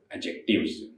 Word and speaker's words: adjectives: और एडजेक्टिव्स कहिएगा, ना कि एडजेक्टिव। डी हमारा साइलेंट होता है, डी का उच्चारण नहीं होता।